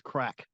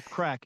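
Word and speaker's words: craic: Ireland come here and practice crack which is the name of the convention because crack is you know like it's fun yeah having fun a party it's like is I think it's spelled c r a i c yes and it means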